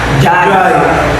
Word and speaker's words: Jai: Jai. J-A-I. Jai. You call Jai, ew! Like- Spell it out!